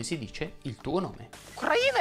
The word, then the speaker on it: Ucraina: Nello scorso video abbiamo imparato che Ucraina si dice Ucraina e non Ucraina, abbiamo imparato che il fiume in Sicilia si chiama Alcantara, oggi andiamo a scoprire come si dice il tuo nome. Ucraina è tua Ucraina!